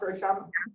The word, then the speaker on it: Ryshanda: Is that how it's pronounced, Ryshanda?